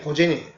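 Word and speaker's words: 午前: 그래서 고전 그래서 이것은 발음이 고젠이 고젠. 오전 오후 할 때 고젠 또 고고 이렇게 되는 거예요. 오전 오후. 오전과 오후. 이걸 일본 발음을 하면은 고젠 또 고고 이렇게 한다.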